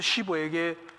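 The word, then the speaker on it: Schwab: 강철왕 카네기가 자기의 기업을 누구에게 물려주었냐 하면은 초등학교 학력의 찰스 쉬버에게, 발음을 잘 쉬버입니다. 쉬버.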